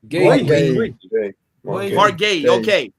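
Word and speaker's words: Guéhi: I butchered his last name. Gay. Okay.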